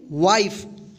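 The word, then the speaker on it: wife: वाइफ।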